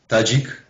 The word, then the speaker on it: Tadzik: Tadzik.